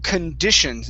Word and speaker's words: conditions: well uh let's see first one here is conditions instead of con conditions it's kun okay one more time